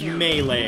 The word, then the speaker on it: Melee: or melee earlier because when i grew up i always called this mealy i'm like let's play super smash rose mealy that's what i always said but it's apparently pronounced melee all right so let's